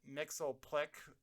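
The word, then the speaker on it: Mxyzptlk: And I know people pronounce his name different way, but I'm going to pronounce it Mixelplick for this, just the way I've been taught. So I'm going to stick with it.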